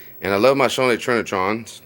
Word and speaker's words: Trinitron: love my shawnee trinitrons trent neutrons you know you gotta spell it correct say it correct but i really can't but it's t-r-i-n-i not t-r-i-n-a not not where the a is with the n i i mean so